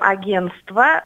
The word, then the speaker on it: агентство: мы говорим агентство, пишем агентство. И в рекламе одного из агентств слово агентство было написано неправильно. Это просто поразительно. Но, тем не менее, очень многие люди допускают эту ошибку, забывают писать непроизносимую там букву «Т».